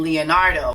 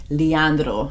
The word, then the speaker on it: Leandro: story of ingred and Leonardo just wanted to make a quick change here a quick note that his name is Leandro Leandro but please forgive me